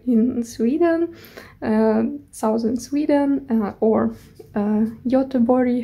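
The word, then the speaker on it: Göteborg: trip to Gothenburg in Sweden Southern Sweden or Yota bori how so it's pronounced it was a four days trip for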